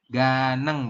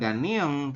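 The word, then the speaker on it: 가능: Ganeng, betul. Bukan ganiong, tapi ganeng. Ya. Jadi dibaca langsung ga tambah dengan neng.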